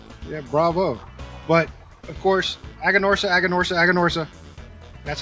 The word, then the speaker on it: Aganorsa: But of course, Aganorsa.